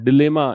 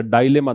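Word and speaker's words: dilemma: तो जब आप कंफ्यूजन में हैं, जब आप डिलेमा या डायलेमा, दोनों प्रोनाउंसिएशन होते हैं दुविधा के, तो ऐसी स्थिति में है, तब आप समुद्र के किनारे जाकर बैठते हैं।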